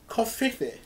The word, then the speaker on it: covfefe: Covfefe. Coffee. Like coffee. Coffee. Yeah. Like the media coffee. Yeah. It's like coffee with a V in it.